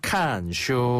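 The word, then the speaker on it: 看书: 슈엔 슈엔 슈엔 슈엔 책을 보다라는 표현은 카 슈라 하는데요 칸슈 그렇죠 이때 카는 보다라는 뜻이에요 보다 칸슈 한 번 더 칸슈 칸슈 그렇죠 이게 지금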